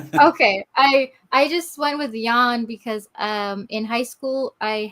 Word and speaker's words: Jan: Okay, I just went with Jan because in high school I had a music